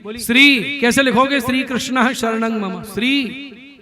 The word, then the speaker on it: शरणं मम: श्री कृष्ण शरणं मम, इसको भी अशुद्ध बोलते हैं। कोई शरणम बोल रहा है, कोई मम कर रहा है, कोई ममः।